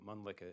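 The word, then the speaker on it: Mölnlycke: because it's kind of hard to spell and pronounce. No worries. So, Mlicka is M O L N L Y C K E.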